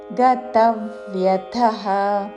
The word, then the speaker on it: గతవ్యథః: ఉదాసీనో ఉదాసీనో గతవ్యథః తా మీద ఆఘాత చివరిలో మహాప్రాణాక్షము థ. గతవ్యథః గతవ్యథః కాదు, అల్పప్రాణతో గతవ్యథః అని కూడా కాదు. గతవ్యథః ఉదాసీనో గతవ్యథః సర్వారంభ సర్వారంభ రా తర్వాత మాకి మహాప్రాణాక్షము భావత్తు.